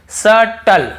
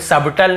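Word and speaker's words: subtle: देखिए यहां पर पर देखिए सटल सटल यहां पे सबटल नहीं पढ़ रहे हैं तो क्लियर हो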